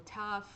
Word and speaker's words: tough: Mas, por exemplo, tough.